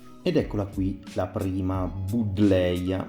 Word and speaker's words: Buddleja: Ed eccola qui la prima Buddleia, ma io preferisco la pronuncia all'inglese in quanto questa pianta prende il nome da Adam Buddle, che era un medico e botanico inglese del 1700, quindi credo che la pronuncia corretta sia quella anglofona.